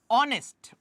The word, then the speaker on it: honest: eta aniso article eta question aniso last question honest honestor h to apunar ki hoy silent hoy শব্দটো আমি pronounce কি হৰ পৰা কৰো ওৰ পৰা কৰো